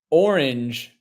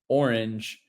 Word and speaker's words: orange: down John cran actually we had a debate how many syllables in the word orange you might say orange you might say orang with two claps Sam Jesse be the tiebreaker here how many syllables in Orange oh I'm on mute that was a billy mistake right there man um man uh it's two you have a Val to start and then a consonant and then another vow